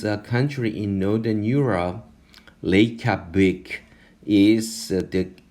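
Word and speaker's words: Reykjavík: Reykjavik, Reykjavik, Reykjavik.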